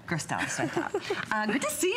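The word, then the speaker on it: Gerstel: Gristel, so tough.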